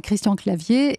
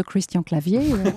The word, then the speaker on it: Christian Clavier: Et voilà, et les Espagnols maintenant connaissent le nom de Christian Clavier. Elle le prononce pas comme ça. Christian Clavier.